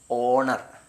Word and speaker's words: honour: ഏൻ HONOUR ഹോണർന്നല്ല വായിക്കേണ്ടത്, ഓണർ.